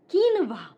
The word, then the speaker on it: quinoa: So this fruit is known as quinoa. Quinoa, not quinoa.